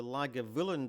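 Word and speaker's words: Lagavulin: This is the g spelling on the road sign. You can see that it's not just the BH that's sounded as a V.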